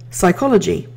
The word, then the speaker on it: psychology: The word is, if you haven't guessed it already, psychology. Most people don't think of the silent P and the S as starting the beginning of the word.